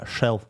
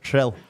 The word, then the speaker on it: Rhyl: How do you say it? He did it. Rhyl. Rhyl. Rhyl. I can do it as well. Rhyl. No, you're saying shril.